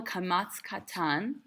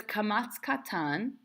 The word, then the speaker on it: kamatz katan: So it's kamatz katan. It's pronounced o, not a.